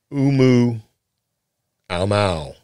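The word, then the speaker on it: ʻOumuamua: you know and so they named it umu alow is what the guy says that's how you pronounce it so I can't do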